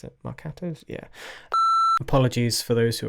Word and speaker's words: marcato: Marcato we don't have marcato's I think that's how you pronounce it marcato's yeah apologies for those who are probably triggered it's actually pronounced Marcato not makato it's Marcato that we don't have